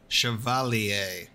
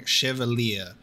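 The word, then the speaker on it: chevalier: are better than diplomacy I need to remember the pronunciation of chalier cuz I keep saying chevalia because I just I keep reading it as it is spelled chalier chalia chalier and watch me say chevalia next time old habits die hard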